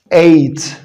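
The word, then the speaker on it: eight: تالت نوع من أشكال الحروف اللي أنا بلاقي فيه اللونج A حبايبي هو حرف الـ E I لما يجي وراه GH، وهنا GH على طول حبايبي بتبقى silent. شكل 8 8 8.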